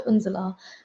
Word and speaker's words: Unzela: You guys can pronounce my name. So I went back to Unzela, and since then I've just been Unzela. Anyone I introduce myself to, it is Unzela, because I'm like, you